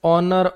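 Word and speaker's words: honour: Honest ऑनर ऑनरेरी सब में H silent है।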